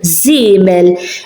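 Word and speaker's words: żiemel: Zimel, zimel, as you can hear the z, zimel, and it has a dot on it. Zimel, you can hear it z, zimel.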